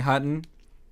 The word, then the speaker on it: Hutton: Hutton. _ Hutton. Spell that. Hutton, like button with an H.